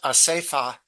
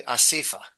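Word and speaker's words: אסיפֿה: Although it's pronounced asefa in Hebrew, in Yiddish it's usually asifa.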